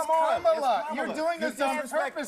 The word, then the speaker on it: Kamala: Let me actually pronounce her name right. Kamala Harris. Kamala. You said this. We don't call you Nancy. It's Kamala.